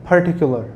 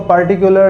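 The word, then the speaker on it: particular: Number 11, we have the word पर्टिकुलर. कुछ लोग हैं जो कि इसको पार्टिकुलर या पार्टिकुलर और पार्टिकुलर बोलते हैं, पार्टिकुलर भी बोलते हैं, ठीक है, लेकिन जो इसकी एग्जैक्ट प्रोनाउंसिएशन है वो है पर्टिकुलर.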